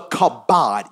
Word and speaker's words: kabod: So because of this, he walked with the kabod. You spell it, Pastor Mike.